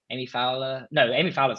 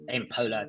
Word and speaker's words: Poehler: I believe Amy Fowler's coming back. It's Amy Poehler. I always get her name wrong.